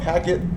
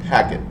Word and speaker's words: PACET: Now, I used to call it packet, but a lot of people were saying, packet spelled with a K. Okay, whatever. However you want to say it, packet, okay?